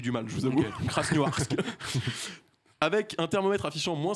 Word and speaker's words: Krasnoyarsk: Et ça a valu une malencontreuse expérience aux passagers d'un vol qui devait rejoindre, je vais essayer de bien le prononcer, Krasnoyarsk.